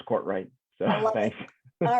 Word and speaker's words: Courtwright: Yes, it's Courtwright, just like it looks. Yeah, and yeah, absolutely. I know we a lot of people get me confused with Cartwright from the Ponderosa, but no, it's Courtwright.